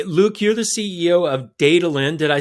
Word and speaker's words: Daedalean: Autonomous Flight with Luuk Van Dijk, CEO of Daedalean. Luuk, welcome to the show. Thanks for having me. Hey, Luuk, you're the CEO of Daedalean. Did I say it right? Almost. I say Daedalean, but I accept any.